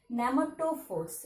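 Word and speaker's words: pneumatophores: See, the letter first P letter is silent letter. Okay, silent letter. Nematophores.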